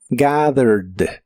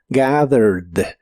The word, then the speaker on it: gathered: termina con e d Aunque de estas dos letras solo se pronuncia la d gathered gathered en el pasado lo puedes